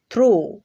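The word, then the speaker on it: through: তবে এর দুই একটা ব্যতিক্রমও পাওয়া যায়, যেমন থ্রু, দো। তো এই দুইটা উদাহরণের মধ্যে শব্দের শেষে জিএইচ পাচ্ছি, এখানে কিন্তু জিএইচ সাইলেন্ট হয়ে গেছে।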